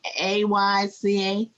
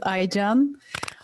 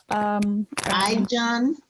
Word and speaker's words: Aycan: Ayca? Yeah, hello, my name is Aycan. Aycan? Yeah, a great pronunciation.